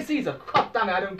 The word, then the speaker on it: Caesar: In the years 55 to 54 BC, Caesar himself, or Kaiser, I guess I should pronounce it, Kaiser, yeah, because the Romans pronounced it with a K.